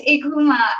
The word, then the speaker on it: Eucheuma: Um, it's Ikooma, and what it is actually just the Creole pronunciation of the scientific name of the species that is farmed by the Placentia seaweed farmers, called Ikooma isiforme. So Ikooma Okay. is spelled Eucheuma, and at the Okay.